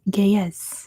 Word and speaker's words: Ge'ez: It is Ge'ez. I believe that's how you pronounce it. Correct me if I'm wrong, but good job, Sarah.